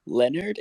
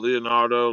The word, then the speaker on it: Lionardo: apologize to the host uh leonard is that how you say it um yo leonardo leonardo just don't call me for dinner brother okay i